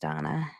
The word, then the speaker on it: Dana: with the name that's spelled Dana but pronounced Donna that's that was her